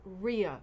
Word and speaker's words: Rya: I've been saying it wrong all week. It's Rhea Rugs.